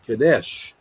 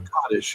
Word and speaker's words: Kadesh: And there's a famous battle called Kadesh, or Kaddish, according to how you say it, that between Egypt and the Hittites.